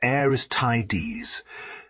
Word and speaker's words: Aristides: Cleese and the other aristides pronounced heires tides notice how many Greek